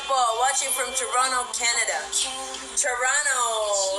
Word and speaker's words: Toronto: watching from Toronto Canada Toronto with a silent tea Ilan po aso niyo